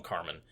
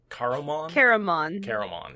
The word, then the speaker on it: Caramon: Call him Carmen. Caramon. Yeah, there's an extra syllable in there.